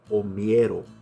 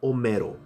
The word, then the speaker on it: omiero: So the word OMIERO, which is pronounced OMIERO, not OMERO.